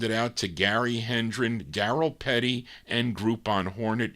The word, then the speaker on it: Daryl: Petty with one r or darl is that how you say it but it looks like darl no it's got to be Daryl Daryl you spell your name